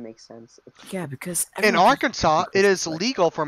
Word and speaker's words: Arkansas: in Arkansas in Arkansas it is strictly prohibited to pronounce Arkansas incorrectly so it's Arkansas this next law makes